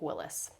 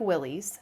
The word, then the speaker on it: Willys: And so with him working on Jeeps, he found a um pieces of a 1944 Jeep Willis. And it looks like Willys, but it's actually pronounced Willis.